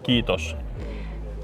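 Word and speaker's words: kiitos: We say kitos to everyone from second lutan to general kitos.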